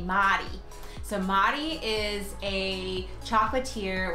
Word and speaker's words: Mary: Or as they say here in Brussels, they would pronounce Mary Madi.